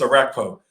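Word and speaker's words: Orakpo: It's Arakpo.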